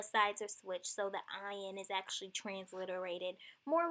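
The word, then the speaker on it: עין: Then there's Ayin. This is another form that does not have a sound, kind of like the Aleph.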